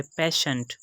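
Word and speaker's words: patient: तो यहां भी हमने इसकी आवाज को शिनचेन प्रोनाउंस करना है उसके बाद थर्ड एग्जांपल है पेशेंट इस एग्जांपल में हम देख सकते हैं की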